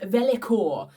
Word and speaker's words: vellichor: Alright, thanks to a quick Google search, I've discovered it is actually pronounced Vellichor.